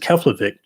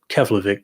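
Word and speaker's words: Keflavík: I think that's how you pronounce it, Keflavik, Kef.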